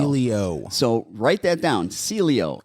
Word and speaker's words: Sileo: One of the best medications that's out there, and it's not hardly sedating at all, it's called Celio. Celio. So write that down, Celio, S-I. Sileo. Celio. Spell it again, Jordan.